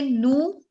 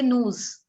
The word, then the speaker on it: nous: When we say nu, we are not pronouncing the S. We don't say news.